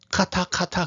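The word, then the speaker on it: חטא: 이게 CH 사운드가 나요. 그래서 그냥 이스라엘에 갔더니 그 뭐 이스라엘 사람들은 이거를 카타 그렇게 발음하더라고요.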